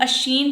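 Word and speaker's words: Oisin: collection the वंडरिंग्स ऑफ अश्शीन and other poems इसको हम अश्शीन pronounce करेंगे 1889 नेक्स्ट चलते हैं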